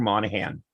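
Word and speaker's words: Monaghan: my good friend who works with me, his name is Andrew Monahan. Mhm. The G is silent, but the good looks aren't.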